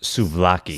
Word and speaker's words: souvlaki: Yeah, and I mean, the way you pronounced it, I think it's pronounced souvlaki.